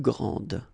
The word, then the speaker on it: grande: Okay, don't insist on the final E, but then pronounce this D, grande, and then exactly the same pronunciation, grande.